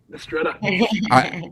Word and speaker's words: Mistretta: Mistretta. I probably should have asked you that first before I butchered your name, but I'm glad that I did it correctly.